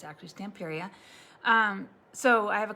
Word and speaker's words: Stamperia: uh the stamp area i've been saying it wrong i've been calling it stamporea but it's tamperia stamperia stamperius and period anyway